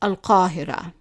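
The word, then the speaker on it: القاهرة: The capital of Egypt, Al-Qahira, Cairo, is always pronounced Al-Qahira. So I hope you understood all of that, but before you go, I would like to challenge you.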